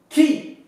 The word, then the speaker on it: qui: Donc K. Qui.